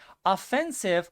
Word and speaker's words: offensive: Offensive or offensive, two pronunciations, means extremely impolite, extremely rude.